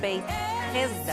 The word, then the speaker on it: Beit Hesda: Aqui, a poucos metros do Portão dos Leões, a gente já encontra a entrada de Betesda, ou como se pronuncia em aramaico, Beit Hesda, que quer dizer a Casa da Misericórdia.